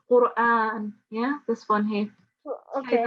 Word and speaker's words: القرآن: Okay, so first of all, it's Qur'an.